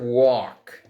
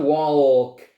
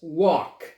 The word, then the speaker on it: walk: The verb walk. Right? Walk. Walk. So you don't pronounce the L. It's not walk. No, it's walk.